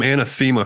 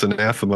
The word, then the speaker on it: Anathema: I called them Anathema for years, and then somebody told me it's Anathema.